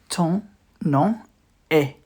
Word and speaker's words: ton nom est: Ton nom est. Ton nom est. We don't pronounce the M. Ton nom est.